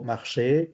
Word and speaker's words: marche: Es decir, que ya sé que la final no la debo pronunciar.